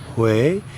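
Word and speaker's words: Huế: h in central Vietnam spelled h u e and pronounced H as you may recall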